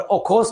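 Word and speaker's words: Okhotsk: और ओखोस को बोलते हैं, उसको टी साइलेंट रहता है, ओखोस करंट।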